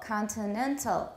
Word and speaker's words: continental: the example is continental where is the stress which syllable again the third syllable continental continental so um you